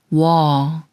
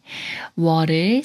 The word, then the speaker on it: 워: 워를 소리내려면 자음 이응이 소리가 없으므로 문에 우와 비슷한 우를 먼저 발음하고 어스의 어와 비슷한 어를 빠르게 붙여서 소리냅니다.